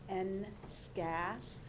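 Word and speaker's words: NSCAS: prepare these students for the future this is pronounced n scats so in a way it is like it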